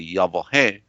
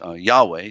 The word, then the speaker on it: Yahweh: also known as Lord but correctly yah whoa hey this term falsely known as Yahweh that's mispronounced this term was known